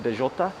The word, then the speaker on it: Bellota: It's pronounced Bellota, a Spanish restaurant.